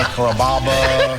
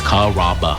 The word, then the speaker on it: Carrabba: Growing up, people always had a hard time pronouncing my name. People chop it up pretty good. You know, Carrabba, Carababa, Caramba. It's a really easy name to pronounce. It's Carrabba. Come to Carrabba's for dinner.